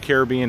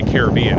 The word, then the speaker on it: Caribbean: the way I say Caribbean. Is it Caribbean or is it Caribbean? I say Caribbean. A lot of people say Caribbean. I know it's pronounced both ways, but if you ride